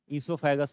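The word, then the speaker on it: oesophagus: दूसरा लिखिएगा, ईसोफेगस, इसे कहते हैं, यहां ओ साइलेंट होता है, ठीक है, ईसोफेगस प्रोनाउंसिएशन होता है, ग्रास नली।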